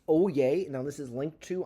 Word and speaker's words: Oyez: This is pronounced Oyez.